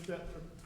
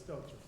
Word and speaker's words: Stelter: Sincerely, Stephen Stetler, Chief of Police. That's nice. I'm sorry, I'm saying his name wrong, it's Stelter.